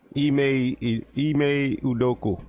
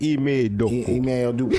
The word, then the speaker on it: Ime Udoka: Ime Udoka. Okay. And then you gotta have the accent when you say Ime Udoka.